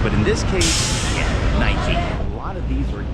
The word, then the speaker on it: Nike: So, you're saying that the E is not silent because most of the time it is silent in English.